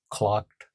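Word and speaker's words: Tlachtga: The fires of Kucka, spelled T L A C H T G A, pronounced clocked. C L O C K E D. The fires of Kakka for instance were a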